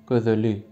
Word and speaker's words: Gözel: Kimi gözeli? Kimde gözelde? Kimden gözellen? Gözelden. Yani farklı telaffuzlar duyabilirsiniz. Bir de dedim. Gözel mesela. G, Ö, Z, E, L yazılır ama söylerken gözel. Yani dudak uyumu oluyor.